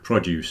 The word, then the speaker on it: produce: You're thinking produce and produce. Yeah, produce. Yeah. That follows the same pattern. Normally, the stress on the first syllable is the noun. Mm-hmm. Yeah. And stress on the second syllable is the verb.